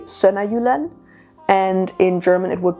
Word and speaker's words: Sønderjylland: In Danish it would be Sønderjylland, and in German it would be Sydjutland.